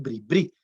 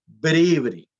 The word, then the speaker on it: bribrí: su casa pereira porque la gente tiende a ponerle el acento donde no es de bribrí no se dicen bribri se dice ver every digamos que tienden digamos